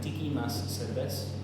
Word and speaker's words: Tiki Mas Serbes: It's pronounced Tiki Mas Serbes, Serbes being beer, Tiki Mas a little more.